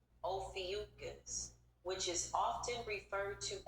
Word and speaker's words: Ophiuchus: Pronounced Ophiuchus. Ophiuchus, which is often referred to as the serpent bearer. Oh, nice. The context behind the 13th sign, while the debate around Ophiscius, the proper pronunciation is Ophiuchus.